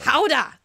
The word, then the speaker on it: Gouda: Howda! Teacher assists about the Dutch pronunciation of Gouda cheese.